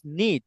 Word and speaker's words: knit: I came from a small, close knit. এখানে কেটা বাদ যাবে, ঠিক আছে? এই কেটা উচ্চারণ হবে না।